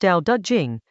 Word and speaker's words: Dao De Jing: Chapter 44 of the Dao De Jing — pronounced "dow duh jing," meaning something close to "The Book of the Way and Its Power" — asks three questions in a row.